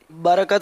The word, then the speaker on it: برکت: تلفظ درست کیجئے، برکت صحیح ہے یا برکت صحیح ہے؟ برکت صحیح ہے. برکت، برکت. برکت. ہاں بھائی ان کو تصدیق کرنے آپ لوگ، راہ پر یہ زبر بول رہے ہیں برکت.